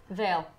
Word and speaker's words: Veil: Veil. Rhymes with sail. Ah, Like sail, pale, but like pale, different. but veil.